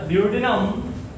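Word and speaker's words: duodenum: अच्छा ड्यूओडेनम तुम देख सकते हो, ये रीजन जहां पे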